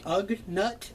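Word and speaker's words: Ugnaught: silver metallic variant and on the is it ug nut is that how you pronounce it that is correct that's going to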